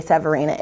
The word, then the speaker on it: Severina: these other hard names you can say Severina it's exactly how it's spelled names matter labels matter